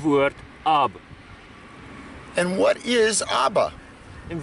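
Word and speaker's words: אבא: So Hebrew, you can pronounce this word, Aleph is the A sound, Bet is the B sound.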